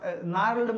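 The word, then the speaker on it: gnarled: generally उस जगह पे क्या होता था कि जो पुराने स्ना नार्ल्ड मतलब होता है जी हां साइलेंट है नार्ल्ड का मतलब समझिएगा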